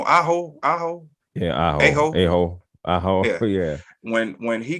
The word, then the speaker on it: Aho: Amos? No, Aho.